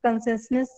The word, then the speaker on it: conciseness: This is conciseness. You people are pronouncing it in different ways. Something conciseness like that. That is a wrong pronunciation. You have to say conciseness. What you do? You just keep ness aside and say concise.